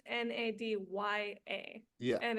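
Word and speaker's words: Nadja: dja but it's pronounced n a d ya a yeah and it's two syllables not three as the common name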